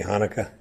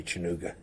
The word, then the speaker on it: Hanukkah: was when he made his happy chooga speech we put a speech together for Happy Hanukkah but we didn't tell him how to pronounce it so he wish people happy chooga it's that's that's fascinating